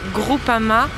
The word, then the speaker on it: Groupama: primos y primos orobitg el equipo se llama groupama difícil se pronuncia groupama es y y